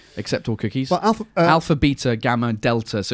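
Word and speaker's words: βήτα: Beta? Yeah, but I think it's pronounced veta, and then gamma is the third letter, which is G.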